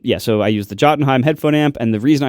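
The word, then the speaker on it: Jotunheim: uh well I'll the the way it's said by Americans is the Jottenheim 2. I believe they're now up to the Jottenheim 3. What Americans say that? No one says Yotenheim.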